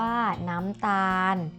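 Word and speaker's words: น้ำตาล: น้ำ ตาล นะ คะ มี ลอ ลิง เป็น ตัว สะกด เวลา เขียน เขียน ลอ ลิง เป็น ตัว สะกด แต่ เวลา อ่าน จะ อ่าน ออก เสียง เหมือน นอน หนู เป็น ตัว สะกด ค่ะ อีก หนึ่ง คำ นะ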